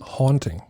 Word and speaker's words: haunting: me I don't know was it hunting me or hunting how do you pronounce it because one is when you hunt animals hunt haunting haunting like a ghost haunting a dame is teaching me the English pronunciation that is fantastic haunting you are right it was haunting me